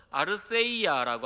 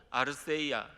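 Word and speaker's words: ἀλήθεια: 여기에서 이 본문에서 말하는 이 진리라는 단어는 헬라어로 아르세이아라고 합니다. 제가 이제 주보에 대라고 적어놨는데 우리나라는 이 th 발음이 없기 때문에 그냥 대라고 적어놨습니다. 근데 그 대가 th 발음을 합니다.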